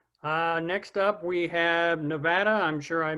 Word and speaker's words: Nevada: go ahead okay uh next up we have nevada i'm sure i mispronounced that so rachel maybe you can correct